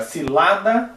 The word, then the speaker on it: cilada: Agora, cilada, o mais forte é o lá, né?